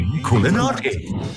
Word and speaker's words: Inkulinati: Inkulinati.